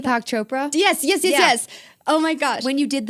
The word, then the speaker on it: Chopra: Chopra?